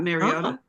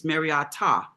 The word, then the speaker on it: Mariota: I think it's pronounced Mara and not Mariota. There's a T. The pronunciation at the end is a T ah.